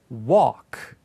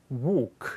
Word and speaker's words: walk: 걷다는 북미 발음은 walk. L 소리가 나지 않죠. 자, 그리고 영국 발음, 호주 발음도 L 소리 나지 않고 근데 모음이 훨씬 더 이렇게 많이 입이 안 열리는 상태에서 나요. 그래서 walk 이렇게 돼요.